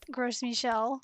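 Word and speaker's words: Gros Michel: When I was playing on my phone the other day, I got a negative Gross Michel, which is how you say it, for the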